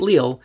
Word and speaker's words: Lille: try to tell me that it's correctly pronounced Lille, even though that's not right. It would be right if we were talking about the place in France, but we're not. We're talking about a place in Belgium. And I'm pretty sure I'm saying it correctly. So feel free to comment about it, but unless you are 100% certain, like you live there, I implore you to Google it first.